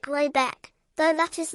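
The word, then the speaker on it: Råbäck: The manor house, or herrgård, in question is to be called Raback, pronounced something like Robeck, though that is not its name.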